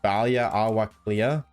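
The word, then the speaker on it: Baile Átha Cliath: Roadside for Dublin would say Dublin with Irish word for Dublin pronounced Balia Awaka.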